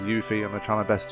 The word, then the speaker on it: Yuffie: I don't know but when I see the double F I want to pronounce it like I pronounce the word gruff for example but apparently it's pronounced you feet so I'm gonna pronounce yuffie as you fear I'm gonna try my